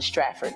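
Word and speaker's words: Stratford: That's how you pronounce it. Straford, New Jersey.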